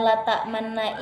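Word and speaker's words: لا تأمنا: Jadi saat pelafalan la ta'manna ini tepatnya pada huruf nun, itu bibir kita perlu dibulatkan menyerupai bentuk bibir saat membaca dhammah. Namun untuk bacaan dhammah atau u-nya tersebut itu tidak dibunyikan, tetapi hanya jadi bibir kita yang perlu dibulatkan.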